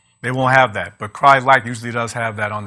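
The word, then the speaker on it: Crye-Leike: it's not pronounced pronounced cry leaky or cry-likey it's actually pronounced cry-like like cry like a baby and they're very popular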